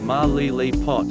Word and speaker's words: Malilipot: town is Melilla pot ma Lele pot back centered on the third syllable Capitan Capitan is located